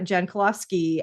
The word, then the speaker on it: Jankulovski: LinkedIn and uh your the way to say your last name is uh Jen koloski uh but it's spelled